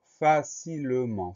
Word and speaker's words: facilement: c'est le cas ici, donc on pense au son en E-N et au T muet facilement, F-A-C-I-L-E-M-E-N-T.